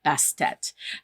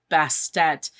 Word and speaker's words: Bastet: from what I read the ancient Egyptians didn't pronounce the ending T so it had just been this but that wasn't really her name so people added on the Tet at the end to get you to try to pronounce the T at the end so that became best even though it was spelled bastet um and also to